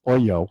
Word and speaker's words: OYO: So they sold it for $135 million to OYO, is the way I'll pronounce it, or for us Jews, OYO.